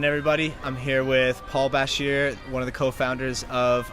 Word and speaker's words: Bashir: Paul Bashir. People say Bashir usually. Skip over the A.